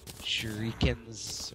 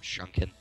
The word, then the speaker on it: shuriken: That feeling when people pronounce the shurikens or whatever, shrunken. Shurikens? Yeah, when people pronounce them shrunken.